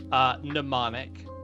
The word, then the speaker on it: mnemonic: Mnemonic, it's a silent M at the beginning.